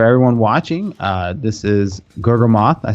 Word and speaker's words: Gurgamoth: you and for everyone watching uh this is G moth I said it right that time uh it's